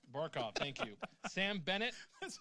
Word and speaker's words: Barkov: said it though because Ortega was going to pronounce it ichel yeah Alexander bark off barkov thank you Sam Bennett That's like one of